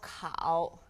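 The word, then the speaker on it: kǎo: marker and cow cow cow K a o third tone now cow is the owl and cow is quite similar to the ow sound in English it's just a slightly softer pronunciation cow now cause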